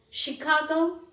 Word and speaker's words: Chicago: thick mustache okay so these are the words where ch is pronounced as sure there are many more words like michigan chicago michigan it's a state of united states chicago it's a city of united states so there are if